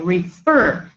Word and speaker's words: refer: referred again two syllables re fir but the stress falls on the second syllable we say refer that's why when I